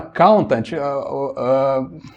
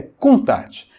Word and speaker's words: Countach: A gente fala Countach meio americanizado, né? Mas na verdade a pronúncia certa é Countach.